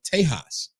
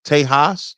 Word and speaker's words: Tejas: because if you know, the Spanish call it Tejas. Okay, no, I didn't know that. Tejas. So they don't pronounce the X because the X is a J.